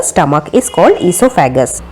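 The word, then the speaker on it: oesophagus: D stomach इस called ऐसोफागस शब्द में ओ साइलेंट होता है नेक्स्ट ही व्हाट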